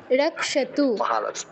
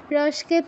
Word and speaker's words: রক্ষেত: নেমে রসকেত রসকেত নয় রসকেত নয় রক্ষেত আমি বলি একটা করে পাদ বলছি আপনি আমার সাথে উচ্চারণ করুন গোত্র মিন্দ্র নেমে রসকেত রসকেত নয় রক্ষেত রক্ষেত আবার বলুন আবার বলুন